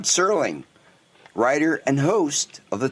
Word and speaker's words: Serling: for Christmas Day 1924 rod sterling or sterling I'm sorry the T is silent rod serling writer and host of